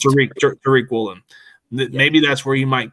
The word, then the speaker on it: Tariq Woolen: Maybe that's where Tyreek Woolen or Tariq. It's Tariq. It's pronounced Tariq Woolen.